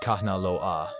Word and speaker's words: Kanaloa: Kanalo a pronounced Kahnalo aa is the god of the deep ocean, the currents and the hidden realms.